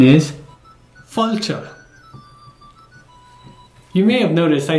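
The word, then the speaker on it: fáilte: Irish to say welcome in Irish you say fulta the spelling for that is f a father i l t e and the pronunciation is falter you may have noticed I say this in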